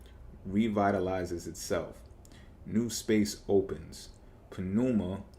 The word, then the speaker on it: pneuma: Pneuma, or pneuma, maybe the P is silent, is your lifelong alchemical ally, stating its love with every inhale and exhale.